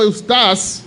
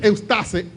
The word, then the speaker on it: Eustace: Hay un personaje muy interesante llamado Eustace. Yo digo así porque así que yo lo pronuncio en mi inglés, porque si no dijera Eustace, que iba a sonar peor.